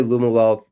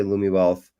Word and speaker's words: Lumiwealth: A lot of people say Lumiwealth. Some people say Lumiwealth. Lumiwealth. I like that. They're both cool.